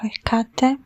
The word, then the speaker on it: Hecate: written called Hekate or Heate. Her name is pronounced uh differently. It is correctly both ways and maybe even other ways to pronounce it.